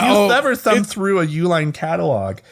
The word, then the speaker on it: Uihlein: You wouldn't know it's Uihlein.